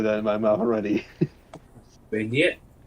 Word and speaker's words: beignet: is it baguette or is it beignet? Beignet. Beignet. Beignet. That's how that's pronounced.